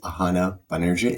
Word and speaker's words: Ahana Banerjee: Today, my guest is Ahana Banerjee. Am I pronouncing correctly, by the way?